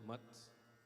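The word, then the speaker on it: math: In India itself, there are 4 centers called mats. In English, it's like M-A-T-H-S, not mats, but mats. The pronunciation is M-U-T-H-S, mat.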